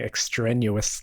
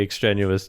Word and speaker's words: extraneous: of the word extraneous I kept saying extra newest like it's strenuous that it can be extraneous talking to me but